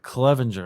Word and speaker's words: Clevenger: microphone there all right Ryan is it Clevelander Clevenger Clevenger all right make sure I get that pronounced right uh from our daily